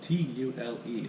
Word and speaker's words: tule: It's spelled T-U-L-E, so it looks like tool, but it's pronounced tule.